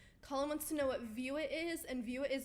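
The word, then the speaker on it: VUIT: Luke actually texted me to give me the heads up about View It because I completely missed that news.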